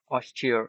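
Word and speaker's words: austere: আচ্ছা, অস্টার মানে হচ্ছে, বা অস্টিয়ার উচ্চারণটা অস্টিয়ার এরকম। হ্যাঁ, উগ্র লাভস, অনেকটা ওইরকম।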